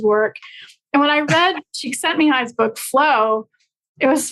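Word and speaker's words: Csikszentmihalyi: called Flow by another positive psychologist called miol cheek sent Mi high oh good for you I was wondering if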